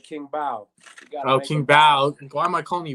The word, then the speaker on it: Bau: king bow oh king bao why am i calling me bomb it's bao king bao because some people because some people pronounce b.a.u bow but my last name's